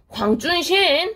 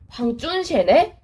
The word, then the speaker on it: 황준헌: 한자식으로 우리가 읽으면 황준헌이라고 읽히는데 이거 발음 어떻게 되니? 원래 이름이 뭐니? 하고 물어보니까 발음이 황준신 하고 이름을 외치는 거야.